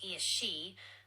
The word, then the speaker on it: Aos Sí: Aos Sí, pronounced Aos Sí, are the people of the Mounds, the supernatural